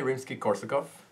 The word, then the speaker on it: Rimsky-Korsakov: So Nikolai Rimsky-Korsakov, did I say it right?